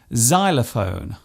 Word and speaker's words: xylophone: It often starts a word by being pronounced as Z, such as in xylophone and xenophobia.